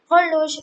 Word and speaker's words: horloge: Horloge is the word which has also a silent H, and it is actually pronounced as horloge. ORLOGE. Horloge.